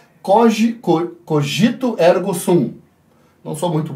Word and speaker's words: cogito: descartes teria que reavaliar recessão o coj cor cogito ergo sum não sou muito boa na tim mas acredito que seja assim a pronúncia cogito o código cogito ergo sum pois as pessoas